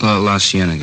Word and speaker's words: La Cienega: Over on, that street out that way, La Cienega. Is that how you say it? La Cienega, yeah.